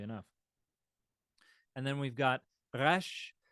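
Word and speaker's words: ריש: and then we've got rash which uh you can Trill it in the back of your throat you can uh do a more of a frenches uh or you can pronounce it as we do in um in contemporary English rash or I've even heard folks uh bounce the tip of the tongue uh whatever you like I'm usually going to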